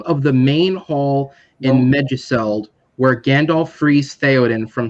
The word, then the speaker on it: Meduseld: And Kevin, correct me if I mispronounce that one word, please. Meduseld, yeah.